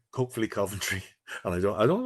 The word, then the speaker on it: Coventry: I need to I need to correct you on your pronunciation of Coventry. You keep saying Coventry. It's it's Frank Lampard. It's Coventry.